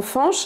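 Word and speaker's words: Fañch: vêtement qu'on dira diat le ntil d nazalise la voyelle qui le précède comme dans un prénom qui a fait beaucoup de bruit il y a quelques années malheureusement qui est le prénom Fanch c'est-à-dire que s'il n'y avait pas de NT on pourrait pas prononcer ce prénom Fanch mais fans ce qui n'est pas du tout la même chose en revanche si cedea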